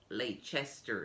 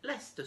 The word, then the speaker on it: Leicester: see the road sign they read laychester square and they have the impression that they got to the wrong place and they will stop people in the street asking them for the directions to leicester square and it's not so easy to get them to understand that it's spelt lake chester square but you say lester square another example is this